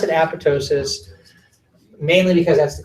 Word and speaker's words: apoptosis: split in how people pronounce this work i pronounce it Apatow sis mainly because that's the correct way to pronounce